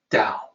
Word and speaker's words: Tao: Zen of that so it can be translated directly at Dao Tao but pronounced with a D sound so we're okay there